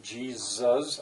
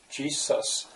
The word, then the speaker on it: Jesus: some people say it as a z jesus that's the way i say jesus some as a true s jesus uh release us it looks to me as if charles wesley must have maybe pronounced it jesus uh this is b